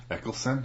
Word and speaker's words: Eccleston: Eccleston? I believe? Eccleston.